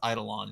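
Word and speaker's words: Eidolon: reading I'm sorry but a lot of people pronounce it I don't and I'm like it's Idol on it's Idol on it's like I don't I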